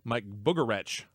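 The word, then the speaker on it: Mike Bugarewicz: spring cup series racing mike boogeretch as i found out his name is pronounced takes over for the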